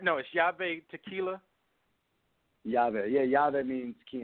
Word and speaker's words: YaVe: correct hobby art now is job a tequila yoga yeah yeah that means key in Spanish so yoga is how you pronounce it but in terms of who inspired